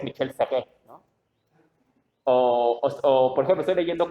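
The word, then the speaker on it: Michel Serres: Yo leí el contrato natural y le decía Michael Serre, ¿no? Y fue ese ridículo que descubrí que es Michel Serre, ¿no?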